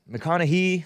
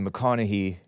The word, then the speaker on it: McConaughey: how you pronounce it mcconaughey whatever mccon as in a confidence con man con male it's pronounced naughty but without the t that's how i figured